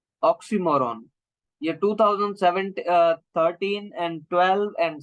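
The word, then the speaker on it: oxymoron: optional है क्या ये बेसिकली इसको स्टूडेंट्स रोंग प्रोनाउंस करते हैं इसको ऑक्सीमोरों हम नहीं पढ़ते इसको हम ऑक्सीमोरों पढ़ते हैं हम इसको प्रोनाउंस करेंगे अगर आप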